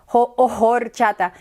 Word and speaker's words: horchata: is for or chata notice I am I saying horchata or horchata it's actually not you know it's it's silent H it's a validation or